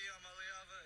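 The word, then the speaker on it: Iamaleava: I'm Nico Yamaleava, and the correct way to pronounce my last name is Yamaleava.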